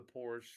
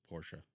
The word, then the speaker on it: Porsche: much terry but that's porsha okay portia there's a way to pronounce it it's not poor yeah yeah we're so